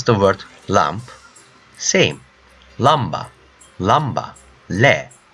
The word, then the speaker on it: lamba: How you pronounce the word lamp? Same. Lamba, le, lamba.